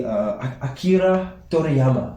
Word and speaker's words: Akira Toriyama: Recently, the creator of Dragon Ball Z, Akira Toriyama. And that's how they say it in Japanese.